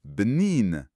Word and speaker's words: bnin: C'est prononcé bnin.